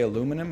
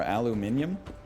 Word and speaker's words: aluminium: Do you guys say aluminum or aluminium? I mean, I'll give England credit. We say aluminum. But we should be saying aluminium, right? Like, that's the way it's spelled. They got that one right, as far as I'm concerned.